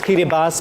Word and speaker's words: Kiribati: K I R I B A T I. That's correct. Or Kiribas. Kitty. It's pronounced as kitty bus, but you know, because it's phonetic and we